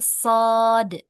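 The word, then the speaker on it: صاد: Ini juga bukan dibaca sh tapi shod ya.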